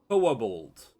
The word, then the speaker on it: Quobald: Um, the way that they pronounce this name would imply that there is a W somewhere in it. Wo bald.